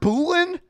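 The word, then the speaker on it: Bullen: I've heard Boolan and Bolan. I'm I'm It's spelled like B U L L E N. Bolan. To me, that's Bullan.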